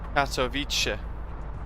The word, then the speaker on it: Katowice: Katowice, that's how you should pronounce it. Is that better? Katowice. It's the bit at the end, the TSE, that I struggle with.